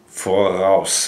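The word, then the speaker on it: voraus: Forouse. It's spelled V O R A U S. Forouse. Forouse.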